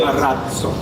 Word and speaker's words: Marazzo: We have changed it to Marazzo, and we have a D sound coming just before Z. Marazzo. So Marazzo. Everybody has to become Italian speaking now.